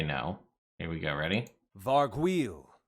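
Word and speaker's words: vargouille: go ready varg wheel varguil is how you officially pronounce it although i did used to have a lot of fun saying vargoulie back in the day which was just the fun thing me my friends used to say but this is a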